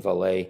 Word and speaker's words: Vallée: But Jacques Vallée, and I think maybe a Frenchman would pronounce his name Vallée.